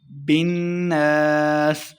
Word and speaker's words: الناس: ساتھ ملائیں گے۔ برب الناس، نون مشدد پہ ہم نے غنہ کرنا ہے اور آخر پہ وقف کریں گے۔ برب الناس، مالک الناس،